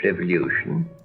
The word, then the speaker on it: revolution: He was born in the early years of the French Revolution. Did you notice how he pronounced revolution rather than revolution? So leu instead of lu.